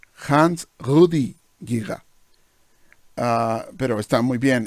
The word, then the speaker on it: Giger: Pronunciación correcta del señor que nombró es Hans Rudi Giga. Hans Rudi Giga.